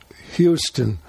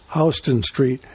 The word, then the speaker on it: Houston Street: was a houston street some people call it houston but in new york it's pronounced houston street and at that time houston street was sort